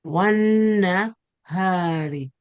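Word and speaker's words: وَالنَّهَارِ: So we say wanna without pronouncing the lam. Wanna hari.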